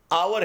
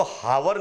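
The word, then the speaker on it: hour: देखिए some time on the basis of sound, जैसे आवर है तो हम इसको हावर नहीं पढ़ते, हावर, एच का प्रोनाउंसिएशन नहीं हो रहा है, हम इसको हावर नहीं पढ़ेंगे, हम इसको आवर पढ़ेंगे, यानी ओ का प्रोनाउंसिएशन आ रहा है।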